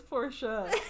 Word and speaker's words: Porsche: I know the official pronunciation that they're going with is Porsche.